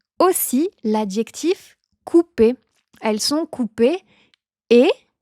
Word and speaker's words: coupées: l'adjectif coupé elles sont coupé et e s le e s à la fin attention c'est muet on l'écrit mais on le prononce pas principe de base numéro